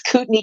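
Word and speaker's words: Kootenai: and tell everybody all the way things are pronounced like it's cutney County it's a bber it's like cordain it's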